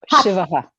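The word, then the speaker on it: शिवः: Then there is Shiva, which is with a sh, like how you hush a child, right? Shivaha.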